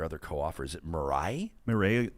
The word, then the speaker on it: Mireille: How do you pronounce the name of your other co-author? Is it Mireille? Mireille Lalancette.